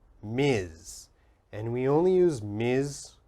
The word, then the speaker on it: Ms: is this one Ms the MS is pronounced Miz Miz and we only use